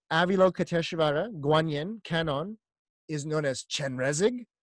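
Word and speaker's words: Kannon: this Bodhisattva is called Kenan that is the Japanese pronunciation of Guan Yin canon you see the buddha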